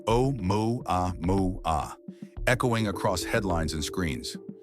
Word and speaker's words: 'Oumuamua: Its name pronounced O moo a moo a echoing across headlines and screens.